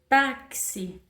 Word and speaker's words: táxi: Então, quando eu vou fazer a transcrição, táxi, eu pego T-A-K-S-I. Então, esse X, ele tem o som de K e S.